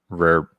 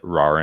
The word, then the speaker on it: Rahr: okay why to the rare rare and sons brewery or as they pronounce it rawr and sons brewery they've got great beer